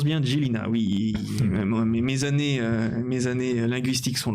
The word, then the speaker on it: Žilina: Et ça se prononce bien Žilina, oui.